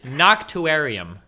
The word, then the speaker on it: Noctuarium: Noctuarium. God damn it. Nobody can pronounce IT PROPERLY. HOLD ON. I shall pronounce your name. It is Noctuarium.